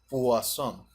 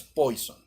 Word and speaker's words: Poisson: Y por favor, grábense que se pronuncia Poisson, la pronunciación en francés, no es Poison. Ustedes tienen suerte de que están a distancia en este caso y no los puedo escuchar, pero el modelo Poisson, ¿sí?